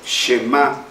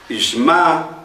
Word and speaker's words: Shema: Algunos lo pronuncian Shema Israel. Es Shema Israel, Yehová Eloheinu, Yehová Echad.